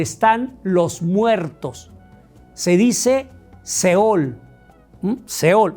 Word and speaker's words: sheol: Se dice seol. Seol o sheol.